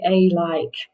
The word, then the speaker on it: alike: like away around agree those words all start with an a that sounds like they start with an uh a short u okay here we go